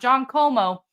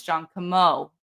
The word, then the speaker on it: Camo: Okay, if you want to pronounce it right, we've had the emphasis on the wrong syllable collectively as a free Karen Reed movement. So it's not John Como, it's John Camo.